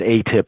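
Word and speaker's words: AATIP: the advanced aerospace thread enta fication program or a tip I didn't know was a quote I didn't know it's pronounced a tip at the time and that's the acronym AAT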